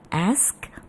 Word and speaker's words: ask: Jadi bukan x tapi ask or ask.